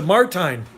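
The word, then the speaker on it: Martijn: love palm trees you did it thanks natasha martine ah and you say your name natasha right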